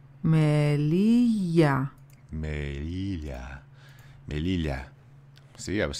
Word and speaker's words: Melilla: Melilla. Melilla.